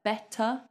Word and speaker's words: better: Better, better, or better still. We don't pronounce this R either, because look, this is a consonant. So if an R comes before a consonant, we don't say it.